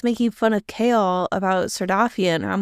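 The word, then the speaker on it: Sardothien: She also goes by, I don't know how to pronounce it, Sarcophagan? Well, that's her last name. Yeah, something with her last name. Sardothian.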